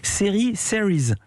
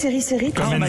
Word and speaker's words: Series: Eva, toujours en direct depuis Fontainebleau, où vient de débuter le festival, j'espère bien prononcer, Series. C'est comme ça qu'il faut prononcer, Eva. Non, vous prononcez à la française, série.